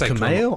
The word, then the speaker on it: Kumail: So one of the images is Kumail Nanjiani, however you pronounce his first name. Apparently it's Kumail. I say Kumail as well.